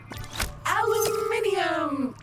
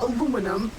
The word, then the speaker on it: aluminium: aluminum or aluminum as Americans pronounce it incorrectly, but that doesn't make it any less useful.